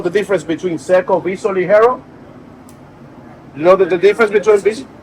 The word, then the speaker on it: Ligero: Ligero is on top of the plant.